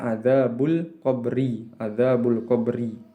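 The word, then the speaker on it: عذاب القبر: Al-qabr ini harokatnya adalah kasroh, sehingga dibacanya adzabul qabri.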